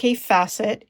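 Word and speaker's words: Kaffe Fassett: I learned this from CI facet and yep it's pronounced C facet it rhymes with safe asset I've met the man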